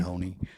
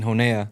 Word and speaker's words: Honea: I was saying Honea. Yeah, a lot of people did. Yeah. People on TV. Yeah.